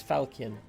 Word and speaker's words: falchion: oh did i put 14 in there i think i might have put 14 in there oh 13 okay hard c okay so it is falchion thank you no simon